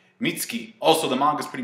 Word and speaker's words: Mitsuki: In the anime's case, it's Mitsuki. I I like how they pronounce it without the U. Like the U doesn't sound like with with Sasuke, you don't say Sasuk, you say Sasuke. Mitski.